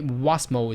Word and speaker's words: WASMOL: Okay, so the Western Australia skill migration occupation list, WASMOL, it's very hard to pronounce it, but anyway, WASMOL is how they like their occupation list to be called, which lists occupation available